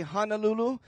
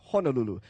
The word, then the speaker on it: Honolulu: safe to say that we chose in on the pronunciation of Honolulu so if you do hear anybody say Honolulu it's kind of hard especially if they're kpuna to tell them hey I'm sorry kpuna you're wrong it's Honolulu uh that's kind of